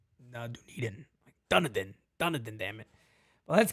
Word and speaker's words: Dunedin: It's like, no, Dunedin.